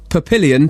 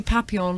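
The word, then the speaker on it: Papillon: next one Louis Von pilion 26 new never used £300 bag but Greg's pronunciation is wrong it's meant to be papon like butterfly butterfly design but Greg says like billion not the bag I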